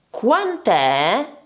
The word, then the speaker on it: Quant'è: Attenzione alla pronuncia, ripeto. Quant'è?